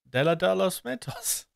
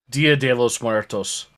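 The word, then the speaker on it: Día de los Muertos: of course it is it's della dolos mentos dia de los muertos that too i knew i was saying it wrong but i couldn't i couldn't correct myself um so this is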